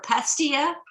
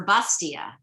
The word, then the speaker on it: pastilla: a moroccan dish and i've heard it pronounced both ways with a p for pastilla and with a b for bastia so um i think